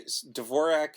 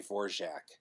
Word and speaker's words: Dvorak: her name she okay Dvorak is what it looks like but it's apparently vorac justjack but it's funny because it's a madeup name it's a stage name so she's allowed to tell us to pronounce it any way she wants she us a difficult